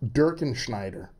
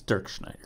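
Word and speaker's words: Dirkschneider: Dirkenschneider. Actually, it's Dirk Schneider.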